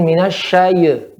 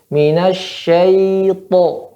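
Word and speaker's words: من الشيطان: Untuk catatannya ya, tadi ketika menyebutkan pada ya berta'awud ya, jangan dibaca dengan minasyayy ya, syayy, ihtizaz atau mengayunkan di sini ya. Karena pada ya sifatnya dia tidak memantul, tapi sifatnya lembut. Minasyayto.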